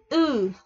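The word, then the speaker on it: ㅡ: Đó là chữ Ư. Ư của Việt Nam mình thôi, Ư.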